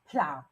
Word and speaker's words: plough: And in the word PLOUGH, it is pronounced ow, plow.